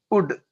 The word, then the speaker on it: would: what is the fourth third one would so we are not pronouncing the particular letter L that's why the silent letter is L next fourth one daughter